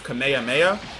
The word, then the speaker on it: Kamehameha: And that's how the name is pronounced. It's Kamehameha.